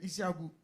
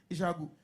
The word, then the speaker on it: Ishagu: When he walked in, he came in Ishagu, that's the right pronunciation, Ishagu.